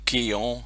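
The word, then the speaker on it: Quellón: We're down at one here, probably about as far south as you can go, almost, down at Quellon in Chile, or Quillon, however you want to pronounce it.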